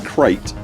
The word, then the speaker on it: Krait: And by the way, it turns out we have all been pronouncing Krait incorrectly all along. The snake's name should be pronounced to rhyme with kite, not crate.